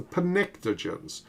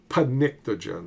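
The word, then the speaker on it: pnictogen: phosphorus arssonic column are known as the pentogens. It's spelled weird. PN I uh I c. But take a look. The first elements are phosphorus and nitrogen. Panictogen. It's easy to remember.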